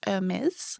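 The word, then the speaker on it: Hermès: I was like, oh, what a nice like Hermes shop. And she was so nice. She was like, I think it's pronounced Hermes.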